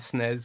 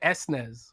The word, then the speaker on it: SNES: gives you multiplayer and like nes and snares games like what you call it s nez i think in america right so that's so dumb like why do you call it nez but then you call it esnes when logic would dictate you call it the snares like we did in the uk no yes no i